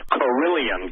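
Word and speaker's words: Kirlian: Lake, seeing what you proposed with 5G and then seeing the Carillion, I'll pronounce it, Carillion, K-I-R-I-L-I-A-N photography, did it ring some bells instantly to you?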